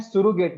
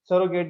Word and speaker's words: surrogate: उसे हम कहते हैं सुरोगेट मदर, यानी जिस मदर के अंदर हमने इम्प्लांट किया, that mother is called सुरोगेट mother. सरोगेट भी कहते हैं इसे, सुरोगेट भी बोलते हैं, दोनों प्रोनाउंसिएशन ठीक है।